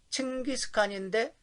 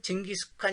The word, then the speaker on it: 칭기스칸: 칭기스칸인데 우리는 징기스칸 이렇게 부르는 사람들이 많아요. 약간 발음도 이게 좀 우리하고 차이가 많이 있습니다.